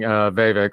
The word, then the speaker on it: Vivek: She had the line of the night with, telling Vivek, rhymes with snake, rhymes with fake, that every time he talks, she feels dumber, which was probably the best line of the night.